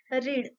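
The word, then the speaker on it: read: वाचणे म्हणजे काय रीड रीडचं सेकंड फॉर्म काय आहे रेड आहे पण स्पेलिंग सेमच आहे रीड रेड आर इ ए D second form जेव्हा युज करतो आपण तेव्हा स्पेलिंग सेमच राहते फक्त त्याचा उच्चार चेंज होतो रीडचा रेड होतो स्पेलिंग आर इ ए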